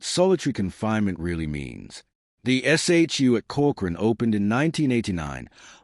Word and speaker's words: SHU: The shu pronounced shoe by inmates and staff alike.